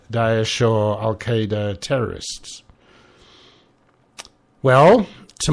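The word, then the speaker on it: Daesh: it is actually pronounced dases I've even seen it um transliterated as dases so a bit more emphasis there on the a but Dash I think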